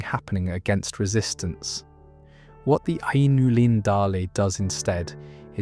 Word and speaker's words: Ainulindalë: And you pronounce it more or less like Ainulindalë, though I have heard people say it differently, and I don't think Tolkien would have minded much.